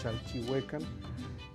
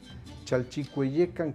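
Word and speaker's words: Chalchiuhcuecan: al islote de olua la gente le dice chalchihuecan porque confunde o no sabe pronunciar el nas no está obligada a la gente es chch cucan chalchiuecan quiere decir la de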